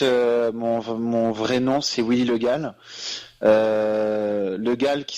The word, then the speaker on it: Le Gall: Alors non, en fait, mon vrai nom, c'est Willy Le Gall. Le Gall qui s'écrit en 2 mots, donc L-E, plus loin G-A, 2 L.